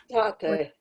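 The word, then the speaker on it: τότε: It's not tati, it's tate. Okay, tate. Right. Tata. Okay. Yeah, it's a soft O.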